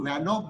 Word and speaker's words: Van 't Hoff: देखो यहाँ पे I Van 't Hoff factor, actually इसको Van Hoff बोलते हैं, T साइलेंट रहता है, पर सब लोग मुंबई में Van 't Hoff बोलते हैं.